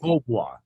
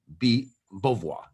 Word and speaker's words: Beauvoir: Jean Beauvoir, right? Beauvoir, and it's Beau, but it's like a bo. Beauvoir.